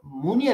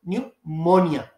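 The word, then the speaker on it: pneumonia: आप पढ़ेंगे न्यूमोनिया इसको मनिया नहीं पढ़ेंगे जब आप मोनिया पढ़ेंगे तो फिर यह मिस्टेक होगी कि भई यू है तो यहां भी यू लगा दो तो न्यूमोनिया तो पी एन ई यू P silent है यह जहन में रखिएगा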